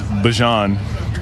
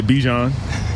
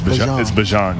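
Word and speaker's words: Bijan: How you pronounce my name is Bjon for everybody that's that's out there. Um, I know a lot of people say Bjon, but it's Bjon.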